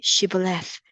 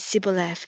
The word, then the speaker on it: Shibboleth: When he said, No, they said to him, They say, Shibboleth. And he said, Sibboleth, for he could not pronounce it right.